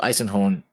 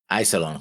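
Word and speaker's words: Iserlohn: wrong a thousand times because I have it baked into my head that it's Lauren and not lawn that's why I can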